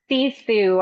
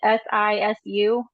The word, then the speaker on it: Sisu: It's Sisu, I think is how you say it. SISU.